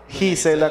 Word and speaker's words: Gisela: Gisela con... Se escribe con G, pero se pronuncia con J, es correcto.